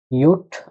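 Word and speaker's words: ja: এটা আপনারা গেস করেন কি হতে পারে উচ্চারণ। ইয়ট আ, একত্র হবে ইয়া।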